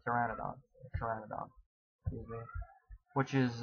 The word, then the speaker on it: Pteranodon: trouble pronouncing this word I know this has a silent P Pteranodon Pteranodon I think it's pronounced Pteranodon Pteranodon which is u